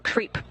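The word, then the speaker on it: KREEP: a weird component that we call creep and it's spelled k re e e p in sense of potassium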